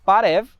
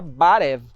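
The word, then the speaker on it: բարև: O que a gente usa aqui no Explica é o ocidental parev e na Armênia se pronuncia barev.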